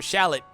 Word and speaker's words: Shallot: so hey since he's gonna be calling himself shallot in the game that's how you pronounce it I guess overall new characters join